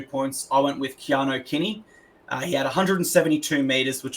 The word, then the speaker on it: Kinney: So Kinney gets my 2 points. And I want to pause here actually and ask, his name is pronounced Keanu Kinney. Yes. Am I? Yes, because Blocker Roach kept saying Keeney.